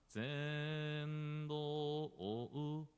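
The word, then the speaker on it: 善導: So then when we chanting this one, instead of Zendo, rather as a like you can see blue part, upper part, Zendo. You see, we pronounce Zendo O. Yeah. Before pronouncing U, we also pronounce as a Zendo O.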